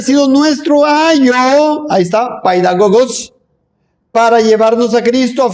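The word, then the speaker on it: παιδαγωγός: Pero hay otra palabra que se pronuncia en griego paidagogos, de donde viene la palabra pedagogía.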